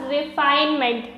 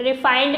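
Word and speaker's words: refinement: चलिए देखिएगा next term है हमारे पास रिफाइनमेंट, रिफाइंड नहीं है ये, रिफाइनमेंट है, प्रोनाउंसिएशन सही कीजिएगा।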